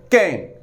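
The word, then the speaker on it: cayenne: YEAANE, कैन, इसको pronounce करें कैन, लाल मिर्च।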